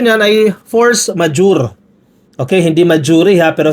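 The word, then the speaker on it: force majeure: Force major. Tayo mga Pilipino majuri ang basa natin no. Pero ang tamang pronunciation po niyan ay force majure.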